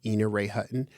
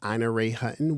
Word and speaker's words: Ina Ray Hutton: We talked about, I pronounced her name wrong. I said Ina Ray Hutton. Her name is Ina Ray Hutton.